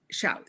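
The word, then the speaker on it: Zhou: Yeah, that's how you spell it. Z H O U. Yeah. Shu. Sha. Shiao.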